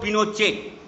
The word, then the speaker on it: Pinochet: Augusto Pinochet, pronounced Pinochet.